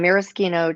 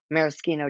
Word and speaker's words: maraschino: I have these star maraschino cherries. And I looked it up. That is how you say it. Even though we grew up saying maraschino, it is maraschino, okay?